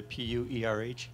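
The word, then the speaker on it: pu-erh: it, the pure, how do you say the P-U-E-R-H?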